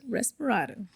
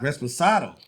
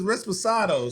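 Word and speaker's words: Reposado: Respirado. I don't think it's Respirado. It's not? Resposado. Respirado.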